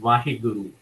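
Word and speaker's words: ਵਾਹਿਗੁਰੂ: In Sikh faith, it's called Vaheguru. It's spelled as Waheguru, Vaheguru.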